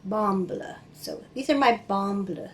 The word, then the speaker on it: Bamble: region of norway and so he said be pronounced like bamballa so these are my bumble socks and they're